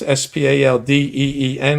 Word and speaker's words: Spaldeen: This is an official It says Spalding, but anybody my age would know that it's pronounced s p a l d e e n.